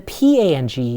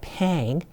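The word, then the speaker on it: 胖: And then P-A-N-G is not pang, but how is it pronounced? You got it. It's pronounced pang with an ah. Okay, so when you say somebody is fat, you would say that person is pang with an ah vowel.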